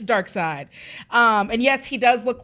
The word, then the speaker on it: Darkseid: And Darkseid is spelled weird because it's Jack Kirby, but it's Darkseid.